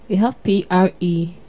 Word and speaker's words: prelude: And for today's Error Buster, we have P-R-E-L-U-D-E. Let's take that together. P-R-E-L-U-D-E. Most often, people pronounce the word as what? Prelude. But the word is prelude. Prelude. Not prelude, but prelude.